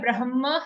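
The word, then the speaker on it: ब्रह्म: So here Brahma, Ha comes first, B-R-A-H-M-A, not B-R-A-M-H-A. Brahma, Ha first.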